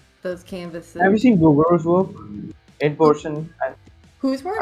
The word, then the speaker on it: Bouguereau: Some people call it Bouguereau. So I go with Bouguereau. Yeah, because that's like a French way of pronouncing it.